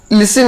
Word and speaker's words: listen: लिसन यानी होता है सुनना, यहाँ पर लिसन में जो है टी साइलेंट है, लिसन में टी नहीं पढ़ते हैं, LISTENING है, लेकिन यहाँ पर टी को नहीं पढ़ रहे हैं, लिसन पढ़ेंगे दोस्तों।